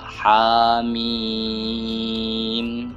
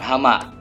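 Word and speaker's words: حم: Terus yang ketiga ha mim ya bukan hama.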